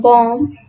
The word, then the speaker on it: bomb: For example, letter B in bomb, letter C in scissors, G in design, and GH in thought.